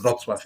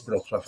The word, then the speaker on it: Wrocław: Yeah, and yeah, Wrocław, very well pronunciation, very good pronunciation. Yes, Wrocław. It is Wrocław actually.